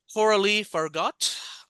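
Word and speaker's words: Coralie Fargeat: The movie was written by, I just listened to a pronunciation, Coralie Fargot. I believe that's, if I butchered the French, I apologize. That's how it's pronounced.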